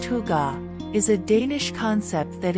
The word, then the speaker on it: hygge: Hygge, pronounced hygge, is a Danish concept that embodies coziness, comfort,